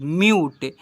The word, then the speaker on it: mute: से पढ़ते हैं, CUBE cube, TUNE tune, MUTE म्यूट, CUTE quit, ऐसे पढ़ते हैं।